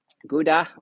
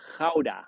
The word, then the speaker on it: Gouda: So I'm from the cheese city, Gouda, or in Dutch we say Gouda, because the G is completely pronounced differently.